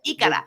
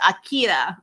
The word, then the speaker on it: Akira: Ikara. It's Akira because the R's are pronounced as L's.